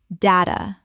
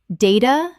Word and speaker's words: data: Common mispronunciation, data, always. Correct pronunciation, data, British, or data, data, American. In British English, the A is always long.